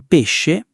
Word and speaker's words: pesce: We pronounce the she in coscienza and the she in pesce the same way.